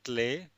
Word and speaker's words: Klee: E in German is pronounced as A, like A, the first letter in English alphabet. So let's have a look at the few examples. Der Klee, der Klee, that means clover or trefoil.